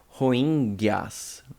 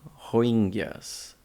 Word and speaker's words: Rohingya: Vamos lá, vamos tentar pronunciar correto, hein? Rohingyas. Rohingyas.